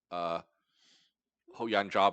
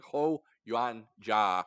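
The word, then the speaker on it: Huo Yuanjia: about honor and about, Ho Yan Jia, by the way. This film's about Ho. I can never say that. I pronounce that correctly. Ho Yuan Jia.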